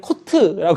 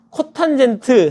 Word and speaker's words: 코탄젠트: 세타 분의 1을 우리가 성민이가 얘를 코트라고 읽었는데 코탄젠트 세타라고 있습니다 코탄젠트 세타라고 읽어요 그러니까 역술을 취하게 되면